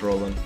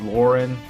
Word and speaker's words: Roland: Yeah, no, it is Roland. But it could be, technically, I don't know why I said technically so many times there, but yeah, it could be pronounced Lauren, but I think officially they called him Roland.